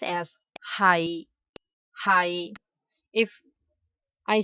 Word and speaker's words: 係: We pronounce as 係 If I say he is my brother.